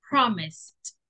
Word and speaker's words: promised: view the pronunciation promise the pronunciation promised with t Okay promised repeat Hello